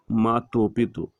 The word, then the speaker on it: Machu Picchu: In English, the name is pronounced Machu Picchu.